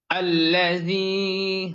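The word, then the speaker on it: الذي: রয়েছে শব্দটি হচ্ছে আল্লাজি এখানে যদিও আলিফ অক্ষরের উপরে কোন কিছু নেই কিন্তু এখানে আমাদেরকে একটি জবর ধরে নিয়ে পড়তে হবে এবং এখানে আমাদেরকে লক্ষ্য রাখতে হবে জালের উচ্চারণ সঠিক এবং শুদ্ধভাবে জিহ্বার আগা সামনের উপরের দুই দাঁতের আগার সঙ্গে যুক্ত করে নরমভাবে আল্লাজি হামজার উচ্চারণ শক্ত করে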